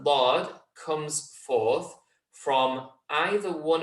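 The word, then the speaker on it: ض: it, connect towards it, have complete pressure, hold it there as you say the start of the letter, build up a little bit of pressure, and then that pressure releases as you pronounce the letter Dad.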